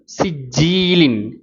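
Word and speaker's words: سِجِّيلٍ: அந்த கிராத்தை கேட்டு பாருங்கள், அந்த வார்த்தைகள் எப்படி உச்சரிக்கப்படுதுன்னு பாருங்கள். ஃப ஆலுன் ஃப ஆலுன் அப்படின்னு வரும். சரிங்களா? அதேமாதிரி அடுத்த வார்த்தை பாருங்கள். சிஜ்ஜீலின் சிஜ்ஜீலின் சி ஜி லின்.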